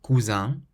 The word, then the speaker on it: cousin: So the first one has a nasal sound, cousin, meaning cousin, and the